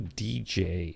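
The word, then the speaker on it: djay: now there's a new dj app in the app store for the ipad now i've been playing around using dj which is spelled d j a y on the ipad and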